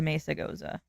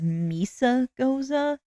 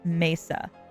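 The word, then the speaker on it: Mesagoza: Also, I've heard people pronounce it as Misa Goza. I'm sorry, but unless you like are living under a rock, Spanish people do not pronounce that as misa. That is like the most anglicized way of saying that I have ever heard. It's messa. Like mea being, you know, a Spanish word.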